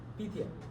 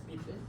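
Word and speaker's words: Pythia: How you spell it? P-Y-T-H-I-A. Pithia. Yes. Pithia.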